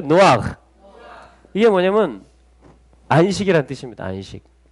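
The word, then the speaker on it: נח: 그래서 뭐냐면 이게 노아흐. 노아의 원래 히브리식 발음이 노아흐예요. 해보실래요? 노아흐.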